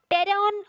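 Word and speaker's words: pteron: टेरॉन और टेरॉन जो है, टेरिगोटा जो नेम है, तो इसमें मैंने टेरॉन, पी is silent here.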